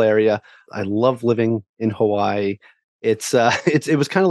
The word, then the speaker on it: Hawaii: And actually, Hawaii is actually pronounced Hawaii, right?